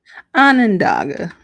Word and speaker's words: Onondaga: Onondaga.